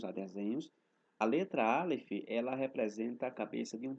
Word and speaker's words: El: Então, vamos saber o significado da palavra Elohim, no hebraico antigo, no paleo-hebraico, porque a raiz da palavra Elohim, ela vem de duas letras em hebraico, que são as letras Aleph e a letra Lamed, que se pronuncia como El.